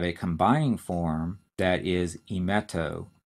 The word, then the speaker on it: emeto: and we have a combining form that is emeto e m et slash o e meto refers